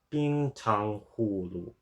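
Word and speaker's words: 冰糖葫芦: the Chinese call Tang so so the correct pronunciation according to is being Tong Hulu Bing Tong Hulu I might have gotten the tongue in the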